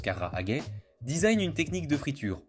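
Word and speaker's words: 唐揚げ: Aux questions constitutionnelle le Carahage prononce Carra Haget designe une technique de friture plutôt qu'un plat spécifique.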